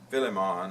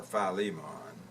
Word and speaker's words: Philemon: le mo Lian and you either pronounce it I guess either Philemon or Philemon we have a preference